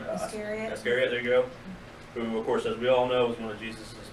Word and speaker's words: Iscariot: Iscariot.